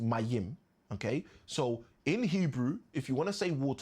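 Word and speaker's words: מים: H2O, which we've said is water, which we've said in Hebrew, is meme, pronounced Mayim.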